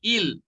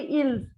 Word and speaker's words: ils: So most of the children, while pronouncing il pluriel, they say ils. So I just want to tell you, children, this is not, the pronunciation doesn't change. Il become il only, not ils.